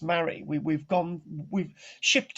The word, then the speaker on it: Mari: again i'll remind you it is pronounced mary we we've gone we've